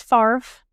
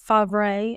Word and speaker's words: Favre: Well, he is Farf. um not fab or favor, but now I'm just going to call him that because it's fun.